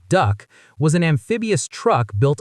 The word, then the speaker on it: DUKW: The DUWK, pronounced duck, was an amphibious truck built on a GMC 2 1/2 ton truck.